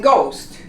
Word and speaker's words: ghost: The combination of a GH, as in ghost, you don't pronounce the H.